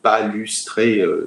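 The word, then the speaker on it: Ledum palustre: Il y a un dernier médicament qui est l'Edum palustré, L-E-D-U-M, palustré, comme ça se prononce, qu'on peut prendre en 15 CH.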